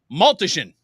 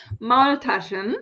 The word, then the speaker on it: Maultaschen: So what the hell is Maltischen? Maultaschen. Maultaschen.